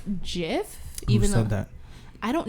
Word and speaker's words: GIF: okay do you say gif or Jif yeah okay I kind of like interchange and I really don't care that much so I'm just looking whatever gift Jeff whatever apparently it's Jeff even though that I